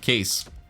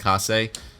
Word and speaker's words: Kase: Let's pick up Case. or Kase. I think his name is actually pronounced Kase.